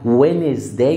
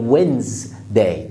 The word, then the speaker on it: Wednesday: عندنا بعد كده دي برضو فيها مشكله شويه, احنا في بنقولها Wednesday وهي Wednesday, اقسمها كلمتين Wednesday.